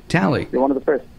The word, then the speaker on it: Talei: Ben anyway gotcha and am I pronouncing your name right yeah absolutely tally you're one of the